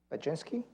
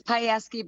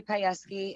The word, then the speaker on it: Piesky: have uh mystery uh oginski i pronounce it right uh no it's piesky but that's okay it's polish it's hard to say looks different than it's spelled hi my name is payesky and i live i